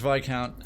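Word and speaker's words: Viscount: yeah it's VI count it's pronounced VI count like the biscuit oh yeah it's VI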